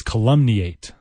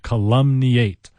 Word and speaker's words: calumniate: to our next word our next word is weird in its pronunciation and even in its spelling to some degree the word is calumny eight it's a verb calumny eight ca lu m n